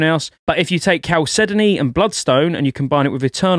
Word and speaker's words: chalcedony: had to look up i've always called that chalcedony don't laugh at me i don't know what it is i had to just look up how to pronounce that properly chalcedony apparently but if you get that